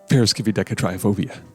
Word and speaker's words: Triskaidekaphobia: One thing that is tricky is the I right here is actually pronounced as a double E. But otherwise, it's not as intimidating as it looks if you just like break it down by syllable. Triskaidekaphobia.